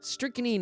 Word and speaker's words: strychnine: Strychnine is how you pronounce it.